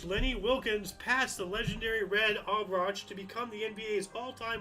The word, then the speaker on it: Auerbach: Lenny Wilkens is a really good ball player, great coach, and just for the record, it's Red Auerbach.